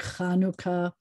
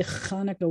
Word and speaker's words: Hanukkah: words like challah and it's supposed to be like hanukkah but a lot of people will say hanukkah with a thick that's not what this